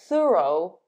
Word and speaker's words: thorough: Number 4, O-U-G-H sounds like O. Though, dough, thorough, thoroughly.